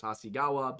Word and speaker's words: Hasegawa: For the record, it's pronounced Hasegawa.